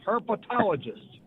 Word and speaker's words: herpetologist: It's not herpes. It's herpetologist. Okay.